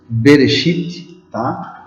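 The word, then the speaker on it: בראשית: das origens O que quer dizer noiva se pronuncia benesty bereshit quer dizer no princípio o assunto cultura literária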